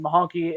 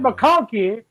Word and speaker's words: McConkey: Like you said, Mahonky is now I can't even pronounce his name right. All right. Lad McConkey is a guy that plays bigger than what he is.